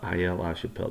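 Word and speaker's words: Aix-la-Chapelle: to pronounce that I I think it's a shapel all right Aya La Chappelle uh Aya La Chappelle that's right basically Austria uh isn't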